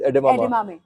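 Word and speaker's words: edamame: हाउ डू we pronounce it? एडेमामे।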